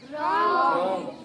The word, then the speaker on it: wrong: ऐसे क्या है, WRONG, ये क्या है, रॉन्ग, रॉन्ग नहीं है ना, रॉन्ग। और W क्या है, साइलेंट।